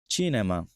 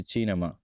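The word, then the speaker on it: cinema: এখন এক্সাম্পল সহ দেখবো চিনেমা চি এর পরে ই আসছে এজন্য হচ্ছে চিনেমা জি এর বেলায় যদি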